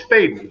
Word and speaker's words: Faden: How does Alyssa say her last name? You know what? How is that pronounced? Because I can't ask her. So hopefully that's correct, because I say Fadden, and if it's not, she's never corrected me. Faden. So. It's Faden. She's Faden.